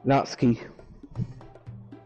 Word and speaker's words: Natsuki: Natsuki.